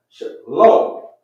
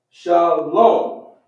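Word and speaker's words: שלום: Shalom, not lama. We're going to drop the sound at the end of the last character.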